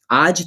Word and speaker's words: आज: आज जरा हिंदी में आज कहते हैं। मराठी में आज कहते हैं। ज और ज दोनों में काफी अंतर है। तो मराठी प्रोनाउंस करने के समय पे आज को आज कहना है आपको।